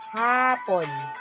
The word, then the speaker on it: hapon: Halimbawa, hapon. Malumanay ang bigkas. Ang kahulugan nito sa English, afternoon. Hapon, mabilis ang bigkas. Sa English naman, ang ibig sabihin nito, Japanese.